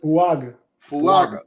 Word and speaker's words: Fuaga: Fuaga.